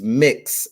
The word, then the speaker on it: Mx: the mx which is mix and it's pronounced like the word mix mix that is how it's